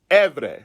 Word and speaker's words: Ivri: r i i'm sorry i v r i is pronounced evre right you can check